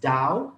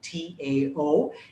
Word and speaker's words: Tao: dao dei ching and now western pronunciation pronounces it as dao t-a-o eastern pronunciation pronounces pronounces it as tao tao and it doesn't matter what you call it call it the tao call it the dao i think dow just